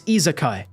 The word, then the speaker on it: isekai: It's izakai. Eekai.